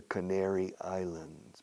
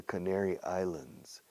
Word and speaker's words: Canary Islands: The Canary Islands. Practica esta palabra. The Canary Islands. Spanish speakers have trouble pronouncing that region of Spain.